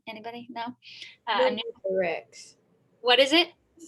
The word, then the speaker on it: pneumothorax: Pneumothorax.